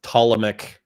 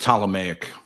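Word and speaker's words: Ptolemaic: What is with the I don't I don't have a lot of uh opinions on the tomic incestuous relationships pronounced tameic.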